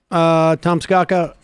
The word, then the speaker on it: Tom Scocca: that's it for us Tomsk akka that my pronouncing your name let's go go let's go come no no Scott Rogers Lee Iacocca Thomas go cat it's sort of rhymes with Lee Iacocca it does I knew